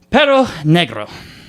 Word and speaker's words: Perro Negro: So Bad Bunny has a song called Perro Negro. Yep. Gotta take a deep breath. I said it right. Thank God. Okay. Perro Negro.